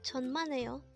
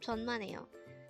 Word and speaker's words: 천만에요: at De hangle word number 50 the word tonmano is a way to say you're welcome in